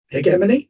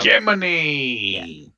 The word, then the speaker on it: Hegemony: Gemini. Yeah. It's like Hermione, but with a G. And not hegemony, which is what I thought it was for the longest time.